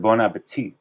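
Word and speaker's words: bon appétit: Like the word bon appetit. The first T is, you pronounce it, but not the last one.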